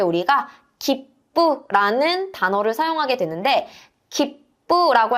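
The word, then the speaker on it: 切符: 푸라고 읽지 않고 뿌라고 읽어 주셔야 돼요.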